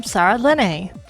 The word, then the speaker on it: Saralene: So, for those of you who are new here, I am Saralene. And yes, that's how that's pronounced.